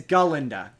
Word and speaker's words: Galinda: with her name's not Glenda her name is galinda she constantly corrects people my name is galinda